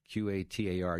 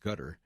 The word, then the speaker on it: Qatar: that money comes from the a of gutter QA t a r used to be pronounced Qatar now they're pronounce it gutter uh in any event uh this is designed